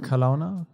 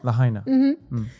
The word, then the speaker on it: Lahaina: Kalauna? What was the name of the town? Kalauna? Maybe I pronounced it wrong. Lahaina? Lahaina.